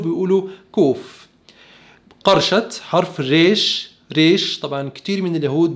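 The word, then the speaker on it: ריש: حرف الريش ريش، طبعا كتير من اليهود بينطقوا شبيه بنطق الار في الفرنسية، بيقولوا غيش غيش.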